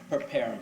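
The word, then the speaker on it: Perparim: I need you to spell that. First name preparum.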